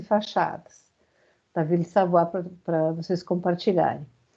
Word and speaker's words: Savoye: Então, a casa que vai ser o exercício avaliativo de vocês é a casa Ville Savoie, se escreve Savoie, mas se pronuncia, tem francês, se pronuncia Savoie, tá?